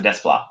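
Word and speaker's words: Desplat: pronounced Alexander des bois is the T silent or not um yeah it is it's silence a DES flop okay um honestly John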